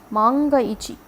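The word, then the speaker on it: 万が一: you as this but it is read as manga a manga Ichi which means if by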